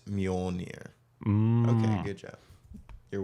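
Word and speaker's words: Mjölnir: I forget what umlauts are, or how you pronounce them. It's Mjolnir.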